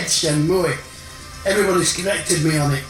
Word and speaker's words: Shenmue: Yeah, Shenmue, Shenmue, Shenmue. Right, straight off the bat we have a mispronunciation.